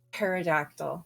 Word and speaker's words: pterodactyl: was it a pterodactyl pterodactyl the p is silent we're still working on